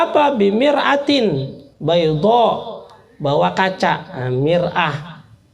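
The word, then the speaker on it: مرآة: Mir'ah, kalau dibacanya mar'ah, perempuan, jadi beda baris saja, beda arti.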